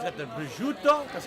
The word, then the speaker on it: prosciutto: So it's got the prosciutto. That's how you pronounce it.